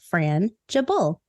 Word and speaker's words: frangible: further Ado today's word of the day is frangible you're frangible scroungeable spelled f-r-a-n-g-i-b-l-e pronounced Fran jabul it's an adjective and it's defined as easily